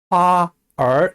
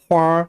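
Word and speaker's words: 花儿: 꽃이라고 할 때 화라고 해도 되지만 북경에 가면 활이라고 발음합니다. 이 경우는 화얼 이렇게 이음절로 발음하면 안 돼요. 두 글자지만 합쳐서 활 하는 식으로 발음합니다.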